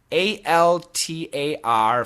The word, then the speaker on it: altar: It basically sounds like A-W-L, all.